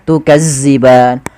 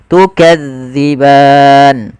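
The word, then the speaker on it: تكذبان: Hati-hati di dalam melafalkan zal karena zal ini salah satu huruf idlak yang dia pelafalannya di ujung lidah kita menempel dengan gigi sari ya. Maka gesari atas dza jangan dibaca dengan zaza makan jangan baca tukazziban tapi kita bacanya tukadziban.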